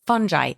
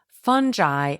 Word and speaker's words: fungi: In this biome, there are trillions of microscopic organisms, including bacteria, viruses, fungi, and even parasites. By the way, in case you're curious, fungi and fungi are both correct pronunciations for the plant group that includes mushroom, yeast, and mold.